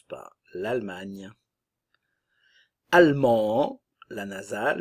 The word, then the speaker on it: allemand: on l'entend presque pas allemand allemande ok le D ne se prononce pas au féminin le D